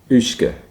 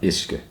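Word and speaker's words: uisge: Ushke, not ishke. Ushke.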